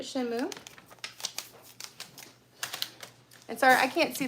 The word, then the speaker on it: Shenmue: Not Shamu, but Shenmue.